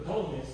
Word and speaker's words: Ptolemies: And so it was under the Ptolemies that we get, or just the Ptolemies, you don't have to pronounce the P at the beginning, but I have heard that not.